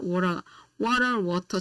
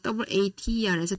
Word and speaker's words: water: 우리가 미국식 발음에서는 아메리칸 스타일에서는 t가 묵음 살짝 여러분들이 스펠링 하나 볼게요. WATER 우리가 T가 모음과 모음 사이에서는 야금이 돼요. 그래서 WATER에서 T가 야금이 돼서 미국식 발음에서는 water 이렇게 발음. water please 이렇게. 그러나 영국식 호주식에서는 water please.